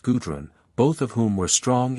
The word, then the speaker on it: Gudrun: 2 children were born to the royal pair, Ortwin and Gudrun, pronounced Gudrun, both of whom were strong and blooming as Nordland roses.